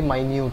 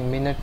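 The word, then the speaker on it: minute: Viruses are extremely माइन्यूट, यानी बहुत छोटे होते हैं, माइन्यूट ये मिनट नहीं है इसको। ठीक है, स्पेलिंग सेम है लेकिन प्रनन्स अलग तरीके से करते हैं इसको।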